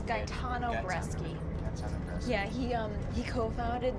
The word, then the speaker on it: Gaetano Bresci: It's Gaetano Bresci.